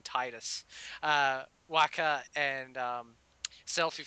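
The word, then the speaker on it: Tidus: that uh uh Tide, I know people are going to say it's Tetus, but I do not care. I pronounce him Titus.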